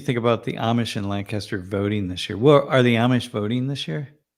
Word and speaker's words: Lancaster: Damn, 180,000 new Amish voters are registered in Lancaster. Jeff, you technically you don't live in Lancaster, but you live very close by. It's funny. I know you're from Ohio because you don't say it correctly.